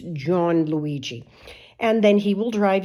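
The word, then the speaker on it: Gianluigi: uh John Luigi uh John Luigi it's g a i and Luigi but uh I don't know you know it's pronounced like John but it's John Luigi and then he will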